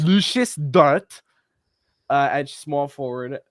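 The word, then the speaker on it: Luguentz: That says Lugans. It's pronounced Lucius. Lucius Dort.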